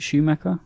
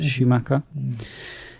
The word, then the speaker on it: Schumacher: directed by Joel Schumacher is that how you pronounce it Matt is it Schumacher yeah yes Schumacher uh main casts we have got Jason Patrick